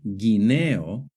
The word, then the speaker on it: guineo: For example, in the word guerra and guineo, the U is silent.